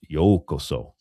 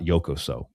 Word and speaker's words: Yōkoso: And it's pronounced Yōkoso, not Yōkoso. Yōkoso has a totally different meaning.